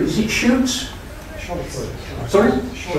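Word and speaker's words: Scheutz: Did anybody know how to pronounce chute? Is it chutes? Sorry? Schuetz, right, thank you.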